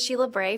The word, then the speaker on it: Sheila Bray: My name is Sheila Bray for the record with the University of Nevada Reno. That's spelled S H E I L A space B R A Y.